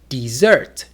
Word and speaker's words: dessert: For example, in the word desert. A desert is a very hot and dry place. But what about dessert? Dessert is a very sweet food we eat after dinner.